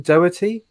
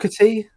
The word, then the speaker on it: Doherty: You've got I can never pronounce her name. Shannon Doherty, Go with it. Doherty, whatever.